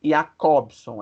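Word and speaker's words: Jakobson: um russo chamado roman ea cobson é esse aí que o nome escreve com j nesse j no entanto é pronunciado como se fosse um ih e a cor som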